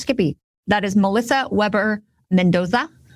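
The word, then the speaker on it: SciPy: at Skippy 2023 some folks may call it stiai it is pronounced Skippy that is Melissa Weber Mendoza and Ness hawen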